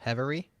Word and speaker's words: Hevery: And Hevery?